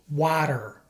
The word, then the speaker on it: water: result of lazy speech as a general rule when T is between two vowels it is pronounced like a fast D sound to many Spanish speakers